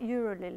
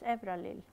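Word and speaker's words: Euralille: It's not Euralil, it's Evralil. Evralil, by the French architect and critic Valéry Didelon.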